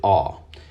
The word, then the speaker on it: ayin: Okay, so there you have it. Basically, the good doctor was saying that he used to pronounce the 16th Hebrew character, the ayin, as I, like in pie, but now he pronounces it ah.